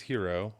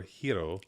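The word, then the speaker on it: Hiro: the character's name is here or hero h iro but some like characters there's some characters use like a more Japanese pronunciation some use a more English pronunciation that's all yeah I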